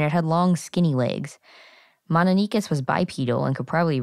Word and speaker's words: Mononychus: which Garrett mentioned earlier, we have been pronouncing Mononychus for a while, but apparently more people pronounce it as Mononychus. Yeah, it looks like Mononychus when you read it because there's a Y before the cuss.